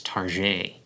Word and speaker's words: Target: Or how about when speakers of American English occasionally pronounce the name of the company Target as Target? They use the stylized French pronunciation to evoke French quality